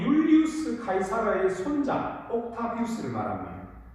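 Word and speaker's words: Julius Caesar: 좀 더 자세하게 말하면은 이집트를 정복하고 로마 제국을 세운 그 유명한 줄리어스 시저 아마 들어보셨을 겁니다. 근데 이 줄리어스 시저는 영어 발음이고 정확한 로마 이름은 율리우스 카이사르입니다.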